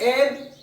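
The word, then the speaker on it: heir: एयर, देखो यहाँ ही है लेकिन एयर बोलेंगे इसको, एयर एयर।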